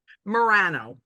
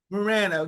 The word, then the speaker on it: Morano: how do you say your last name Morano Morano Morano and before you know as we